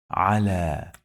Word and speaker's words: على: Yeah, it can be pronounced like long vowel alif. على. If you check the Quran, you're gonna find there is a small alif here on it.